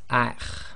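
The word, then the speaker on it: أَخْ: The next one is the letter kha, and it's one of the tafkhim letters, and you've got that slight grinding in the throat. So this will be pronounced as akh, akh.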